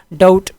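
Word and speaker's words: doubt: डाउट, ठीक है, बी इसमें साइलेंट है, डाउट शक को कहते हैं।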